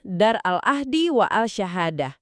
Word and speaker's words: Dar al-Ahdi wa al-Syahadah: Ya benar pelafalannya, Dar al-Ahdi wa al-Syahadah.